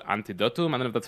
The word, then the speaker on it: Antidotum: I think it's called Antidotum. I don't know if that's how you pronounce it. In Yeah, Poland. it's Antidotum Airshow in Poland, Leszno, yes.